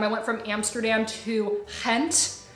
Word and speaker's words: Gent: went from Amsterdam to hent it's spelled like gent but it's pronounced hent it's in the Dutch